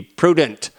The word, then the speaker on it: prudent: So I'm encouraging you to be prudent. Prudent rhymes with student.